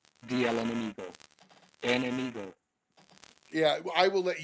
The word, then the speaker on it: Enemigo: Well, George, I am smoking the El Amingo. Am I pronouncing that correct? The El Enemigo.